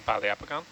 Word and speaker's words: Poliopogon: Like it's, if I didn't hear Chris Carey say it a lot, I wouldn't confidently say poliopogon.